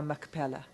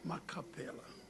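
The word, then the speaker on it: Machpelah: What is your relationship to Virginia Macapella? Virginia is my sister. Was Virginia at Life Esidimeni? Yes, she was at Randfontein. In front of you, I'm sorry, Counsel, you went quickly. Virginia who? Virginia Macapella. Macapella.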